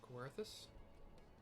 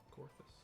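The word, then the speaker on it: Coerthas: we have teleported to kawarthus Corpus I really want to pronounce it c-o-e-r-t-h-a-s corthus flying through the snow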